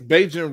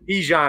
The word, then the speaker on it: Bijan: I think it's Beijing Robinson. I know Anthony knows who's coming in right now. Anthony, what is his name? Beijing Robinson? How you pronounce his name? Bijan.